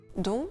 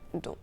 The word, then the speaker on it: dont: un COD, ça devient don. Le T de don, il est silencieux devant une consonne. Le livre dont je t'ai parlé, mais on le prononce devant une voyelle puisque l'on fait une liaison.